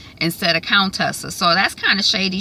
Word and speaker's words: Contessa: I thought, but I think she was saying Coon Tessa instead of Countessa. So that's kind of shady. She mispronouncing the woman's name.